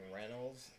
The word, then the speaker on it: Reynolds: I think it's just Antony, but I was mispronouncing Reynolds. It's apparently Reynolds, not Reynolds, even though there's a Y.